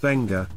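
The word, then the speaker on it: Beqa: 144 kilometers southeast of Nadi off-pacific Harbor because pronounced benga the goomblos Avid divers and Adventure Seekers many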